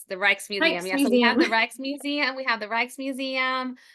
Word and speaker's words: Rijksmuseum: Pronouncing it Oh, incorrectly. Reykjavik. The Rijksmuseum.